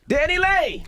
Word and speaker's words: DaniLeigh: We got a special guest in the building, DaniLeigh. Hey. You pronounced it right?